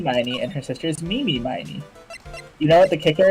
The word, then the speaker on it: Mimi Miney: name is eenie meini and her sister is mimi miney you know what the kicker is taste has